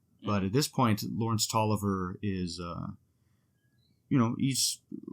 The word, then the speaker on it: Taliaferro: in this period lawrence toliver is the uh appointed by james madison president madison indian agent uh for the area um his name is spelt t-a-l-i-a-f-e-r-r-o but it is pronounced toliver so uh it's read